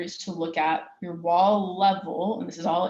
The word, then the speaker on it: WAL: right ahead logging or as it's verbally pronounced the wall files this is where the